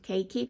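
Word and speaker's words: keiki: have or CIS um again I would pronounce it cakey so that's it um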